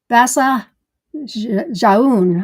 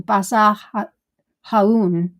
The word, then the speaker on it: Basa Jaun: Basa Jaun, I'm going to say, it is from Spain, so that would be around the Spanish pronunciation. Basa Jaun, we'll say that.